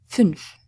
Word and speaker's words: fünf: An umlaut is pronounced as "u", fünf.